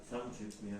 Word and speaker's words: 삼죽면: 삼죽면. 삼주면. 네, 그러면 이거를 마치 우리가 발음한 데 쓰면 삼중면이니까 뭔가 탱글탱글하잖아. 그러면 우리가 삼중면이라고 하면 이게 진짜 이 사람이 살고 있는 곳이 삼중면인지 삼죽면인지 헷갈릴 수 있죠.